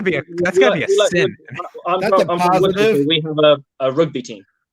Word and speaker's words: Worcester: Worcester, is that how you say it? Worcester. Oh, Worcester.